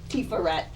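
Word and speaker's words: Tiferet: in the ashkenazic so when you see a th at the end of the word of the word like say tifa red it's pronounced tifaret right and ketter rather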